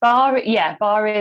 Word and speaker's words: Barre: And we have Natashas, who I think I'm pronouncing this right, leads Barre, is that right? Which is a combination of yoga, Pilates, and ballet? Yes, Barre is a combination of Pilates, dance, and calisthenics.